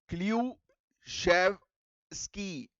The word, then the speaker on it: Klyuchevskoy: Clue शेव स्की। स्कॉय जो लिखा हुआ है ना वो स्कॉय नहीं है। स्की बोलते हैं इसको।